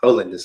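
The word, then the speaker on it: Hollandaise: Stevens released the single Holiness, Holiness, that's how you say it, my friends, which was produced by TDE and the house producer Cal Banks.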